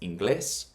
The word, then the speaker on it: inglés: In the case of inglés, it should be inglés. But because it's not, it's pronounced inglés. That's what the accent shows you, that it's inglés.